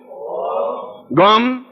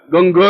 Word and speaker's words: गं: बोलिए ओम गम। अब देखिए मैं म बोला है, गंग नहीं बोला है, गंग नहीं बोलना है, गम बोलना है।